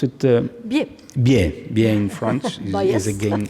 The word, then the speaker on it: Biais: but still very interesting, and that it's Bruno Bias is the, how you pronounce it? Biais.